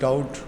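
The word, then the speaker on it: doubt: अच्छा जी, उसके बाद डाउट बी साइलेंट है।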